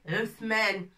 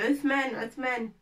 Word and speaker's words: عثمان: On va écrire le prénom d'un garçon qui s'appelle Uthman. Uthman, ça s'écrit avec tha.